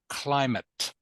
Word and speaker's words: climate: So potential impact, okay, of this word here is pronounced climate.